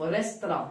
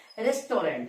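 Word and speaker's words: restaurant: अब ध्यान दीजिएगा, दो प्लस नेम ऑफ रेस्तरां, ध्यान दीजिएगा प्रोनाउंसिएशन सही करना है। बहुत सारे लोग इसको क्या पढ़ता है, रेस्टोरेंट, लेकिन पढ़ना है क्या, रेस्तरां। क्या होता है, रेस्तरां।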